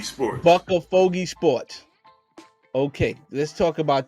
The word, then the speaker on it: BuckaFogey: and and owner of bua f help me pronounce it again it's bucka fogy sports buck fogy sport okay let's talk about that all right